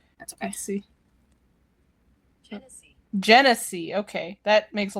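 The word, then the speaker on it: Genasi: Janassi. Janasi. Let me look it up like the pronunciation. Hold on. Cuz it's Hold on. Hold on. Pronunation. I spelled pronunciation wrong. I see. Genese.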